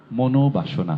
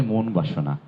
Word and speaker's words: মনোবাসনা: একসাথে হয়ে যাচ্ছে তখন মনোবাসনা হয়ে যাচ্ছে উচ্চারণটি কোনভাবে মন বাসনা নয় মনোবাসনা একইভাবে এরকম দুটি শব্দ